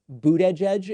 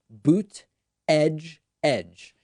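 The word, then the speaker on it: Buttigieg: came out and said it's very easy it's three words boot edge edge and so i've just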